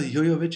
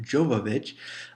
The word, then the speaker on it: Jovovich: evil retribution yes Mila yo yo vich is back and did you notice i pronouncing correctly it is yo yo not jovovich it is a Russian name so that's why it's